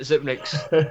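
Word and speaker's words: Xyp9x: How do you say that name? Zipnix? Zipnix. That's it. Zipnix.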